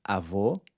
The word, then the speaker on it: avô: The other one was distinguishing between open and closed vowels, as in avô, grandfather, which is pronounced with a closed O, and avó, grandmother, which is pronounced with an open O.